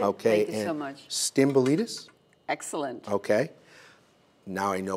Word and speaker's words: Stamboulidis: Stamboulidis?